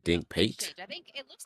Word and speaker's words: Dink Pate: Oh, I've been saying his name wrong. They said Dink Pate.